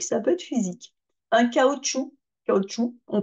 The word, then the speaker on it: cachou: peut être psychologique ça peut être physique un cachou ou on prononce pas le C mais on l'écrit o